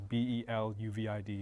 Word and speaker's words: Beluvid: It's spelled phonetically, so it's Beluvid.